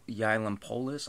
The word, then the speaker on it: Yiannopoulos: Saw something on Facebook that Milo Yiannopoulos, I believe is how you pronounce his last name.